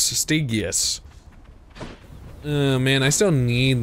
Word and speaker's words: Stygius: It is pronounced Stygius. Stygius.